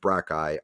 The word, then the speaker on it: brachii: So ultimately, the two heads are called your triceps brachii. I never know how to pronounce that.